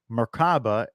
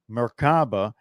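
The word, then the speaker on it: Merkabah: are several pronunciations but generally you pronounce it as if the three syllables are separate with equal accents on each myor refers to a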